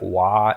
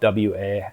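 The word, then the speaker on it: 和: But there's another thing where they talk about, I think it's like wa. It's pronounced, or it's not pronounced. It's spelled W-A. I just think of it as wa in my head.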